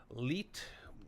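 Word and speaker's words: Leite: joined by cookbook author David uh leit which is not coincidentally rhymes with eat uh course he's a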